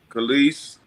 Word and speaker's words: Kelis: How do you pronounce this lady name? Is it Kelis? Kelis.